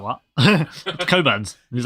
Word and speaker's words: Cockburn: Coburn's.